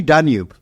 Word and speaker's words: Danube: Is it Danube or Danube? So it's actually Danube. Danube. But the Arabic, because of the way it's spelled in Arabic, Danube. So, a lot of the Emiratis or the Arab expats call it Danube. But it's been inspired from the river Danube.